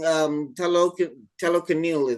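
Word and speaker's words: Talokan: And in the end, also in the final battle, he's not even like destroying Telecanil.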